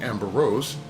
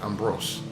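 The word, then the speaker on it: Ambroise: Ambrose, I guess, improves I keep saying Amber Rose. No, not Amber. Ambrose improves the Roman character and calls the final product DAT. Between 1775 and 1790, Francois Ambrose and Ferman and given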